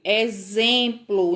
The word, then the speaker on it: exemplo: E se fosse exemplo, a palavra exemplo é a última palavra, lá no final. Se eu fosse ler com o som do X, eu ia ler de que forma? Eu ia ler exemplo. Não existe, não é? Então, eu tenho que ler exemplo. Então, tenho som da letra Z.